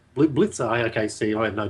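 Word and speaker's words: Blicavs: I was just going to ask about, I don't even know how to pronounce his last name. I haven't been. Mark Blickards? Blitzer.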